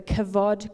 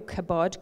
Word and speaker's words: kavod: The term used to signify the manifest glory, it was the kavod glory, or kabod glory, depending on how you pronounce the V.